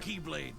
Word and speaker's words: X-Blade: It's just Oh, pronounced like right. Keyblade, even though it's just one Keyblade.